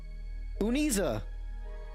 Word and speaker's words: Uniza: Oh my gosh, seen me after so long that I, Uniza is how you say the name.